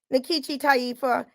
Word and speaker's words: Nkechi Taifa: is a nigerian name even though i don't pronounce it the way they pronounce it in nigeria that's another issue but